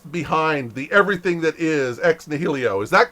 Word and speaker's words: Ex Nihilo: Is it Ex Nihilo or is it Ex Nihilo? You had it right the first time. It's Uh, ex nihilo. it's Ex Nihilo. Okay, Ex Nihilo. I like Ex Nihilo better anyway.